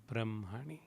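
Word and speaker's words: ब्रह्मणि: come across this term though it is h m we pronounce it as m h brahm hani brahmani and the n had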